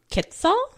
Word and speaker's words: quetzal: only places you can actually find this resplendent quetzal. Mm-hmm. I'm not quite sure how to pronounce that.